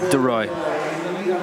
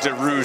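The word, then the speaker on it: de Rooij: ready to tip off the roy to roy is the pronunciation deroy yeah i was i was calling her to rouge for the first couple games but i feel you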